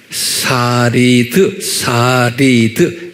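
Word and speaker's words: שריד: 히브리어로는 뭐라고 발음하냐면 S-A-R-I-D, 사리드, S-A-R-I-D. 이렇게 유대인 말로 사리드 그래요.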